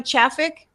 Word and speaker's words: Chafik: As simple as most of people write it here in my community, but it's correctly pronounced as double E.